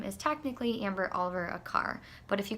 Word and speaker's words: Aquart: My name is Amber Aquart. It's spelt like a quart of milk.